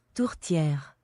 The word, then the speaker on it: tourtière: But in Quebec, we have specific dishes called tourtere, which is very good. Sounds French. Here, I'm gonna learn how to say that. Don't worry. I'm not ignorant like that, okay? pie, It's called pie. tourtière, Tourtière.